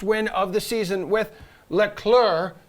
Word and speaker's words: Leclerc: of the season with leclerc you do not pronounce the c finishing second all right